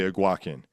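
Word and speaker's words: Eguakun: And yeah, thank you for the correction on the pronunciation. Kingsley Aguin, not not the way I said it the first time.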